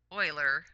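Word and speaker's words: Euler: be using this this is Oiler here's Oiler pronounced Oiler we'll talk about him more later in the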